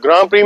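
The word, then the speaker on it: Grand Prix: ग्राम प्री में बोल रहा हूं ग्रैंड प्रीक्स या ग्रैंड प्री बोलते हैं। लेकिन फ्रेंच में ग्रैंड को ग्राम बोलते हैं। डी साइलेंट होता है।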